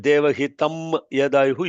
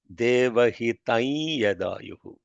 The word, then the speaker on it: देवहितं यदायुः: If you said devahitam yadayuhu, you lost it because you did not understand how anuswaras are pronounced. It is not devahitam yadayuhu, even though it is written like that.